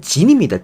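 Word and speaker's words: Ginn: 오늘 선발 등판하게 되는 에슬레스의 진 아이 선수 같은 여기 긴이라 돼 있는데이 발음대로 읽으면 진입니다.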